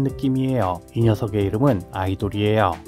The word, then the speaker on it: Ador: 큰 느낌이에요이 녀석의 이름은 아이돌이에요 뉴진스 소속사 어도와 철자는 같지만 발음이 달라요 어도어 아니에요 아이돌이 맞아요 전 처음이 녀석의 상세